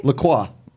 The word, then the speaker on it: LaCroix: you say that name Lacroix yeah he's going the French way um but anyways the